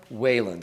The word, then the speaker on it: Weyland: Weyland, okay. Weyland. Craig Kaufman I know how to pronounce.